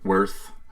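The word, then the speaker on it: Weyrth: setting it's the the planet of way worth worth earth whether it's spelled funny w ey rth worth Earth's worth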